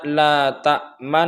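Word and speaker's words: لا تأمنّا: Ini bacanya la ta'manna. Jadi la ta'man dengung, kemudian moncong sedikit ke depan, kemudian dengung lagi, kemudian baca na. La ta'manna. Begitu cara pengucapan dalam ismam.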